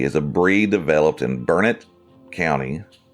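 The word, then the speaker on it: Burnet: That's spelled B U R N E T, but from my understanding, it's called Bernett. because you know this is Texas and why not say things differently than a spell.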